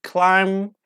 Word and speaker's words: climb: B as you see for example climb we don't say climb but but we don't pronounce bit or B at the end of the bird at the end of the root word like climb you say climb ma